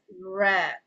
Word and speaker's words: read: So the read has to pronounce as red.